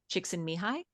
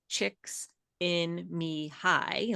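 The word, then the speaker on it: Csikszentmihalyi: The last name is pronounced chicks and mihi.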